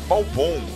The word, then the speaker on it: Balbão: Ó, mandou com acento, ele pronuncia Balbão.